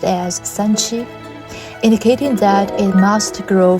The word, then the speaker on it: 三七: People quickly named this herb 3-7 in Chinese pronounced as Sanchi, indicating that it must grow for 3 to 7 years before it can be used medicinally.